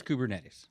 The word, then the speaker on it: Kubernetes: and I had to ask you how to pronounce this kubernetes the kubernetes Nettie's yes kubernetes so uh so this was a big deal